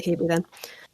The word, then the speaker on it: Hebe: Anyone who's listening to this, I think English people would call it Hebe. Yeah. It could be Hebe. No, trailing E's would definitely be pronounced. Okay, let's say Hebe then.